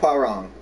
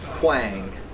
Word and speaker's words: Huang: I always say wow-wrong. Wow, wow, wow. H-W, it's Huang, all right?